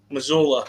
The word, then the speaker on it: Missoula: Missoula.